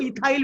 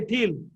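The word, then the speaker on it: ethyl: इल एथिल ताको के लोक इथाइल Billy कहंती नो it should be pronounced as एथिल हला ताको जदि आमे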